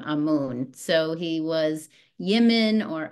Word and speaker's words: Amun: how in marow you say the Divine name amoon so he was Yemen or Amun in Egypt but it is pronounced Amman um in marow and what I meant to